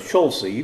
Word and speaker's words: Schulze: The name in German is Schulze, which nobody could say. So my dad and his brothers all ended up pronouncing it differently. My dad chose Schulze because it's 2 syllables.